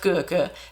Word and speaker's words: Goecke: So Marco Goecke, his name should be pronounced Goecke, but it's probably Americanized like Gecke or something.